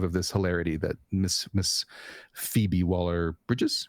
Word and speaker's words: Phoebe Waller-Bridge: So I approve of this hilarity that Miss Phoebe Waller-Bridges, right?